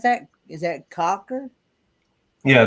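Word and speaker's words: Cawker: that's what i see okay how do you pronounce that is that cocker yeah it's cocker cocker city kansas i actually knew that one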